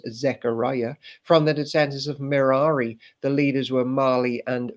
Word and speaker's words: Merari: Like the descendants of Aaron, Merari rhymes with hey.